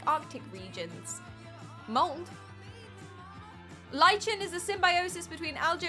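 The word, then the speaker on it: lichen: It's pronounced lych and not lychen.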